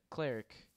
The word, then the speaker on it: cleric: how you say it no not like clerk like a a store clerk it's like cleric i'm pretty sure that's